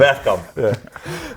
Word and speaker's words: Bergkamp: You said You it said properly, Bergkamp.